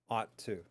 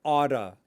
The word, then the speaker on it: ought to: Ought to. And here's another way that North Americans use it, is that they will pronounce ought to oughta, oughta, oughta.